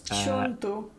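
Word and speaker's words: Ciuntu: And then we have Anna Sophie Konstantin Kiuntu. Is that how you pronounce it? Or Kiuntu? Wait, in Romanian name. She's 3rd in the girls under 9. Oh yeah, it's Chuntu.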